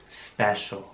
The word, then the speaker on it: special: geschrieben was wir bieten mit einem c geschrieben aber es wird diesmal auch die 1c ausgesprochen also sch nicht nur zur show ich sage es noch mal langsamer special specific das pacific heißt